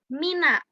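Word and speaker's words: مِن: Nah, tapi ketika dia tidak bertemu dengan alif lam, dia dibacanya min. Artinya sama-sama dari. Cumanya ketika dia bertemu alif lam, dia jadi minal.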